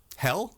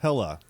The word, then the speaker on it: Hela: Are you pronouncing her name wrong on purpose? Hel? Yes. Hela? Hela.